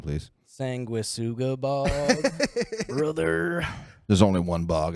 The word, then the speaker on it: Sanguisugabog: Sanguisugabog. Pronounce it correctly, please. Sanguisugabog.